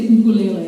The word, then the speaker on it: ukulele: Not like ukulele. Apparently you're supposed to say ukulele, and like people who are from Hawaii will get really pedantic about it.